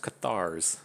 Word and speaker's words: Cathars: It's pronounced Cathars. If you haven't spent 6 months listening to me say Diaz and Vigio.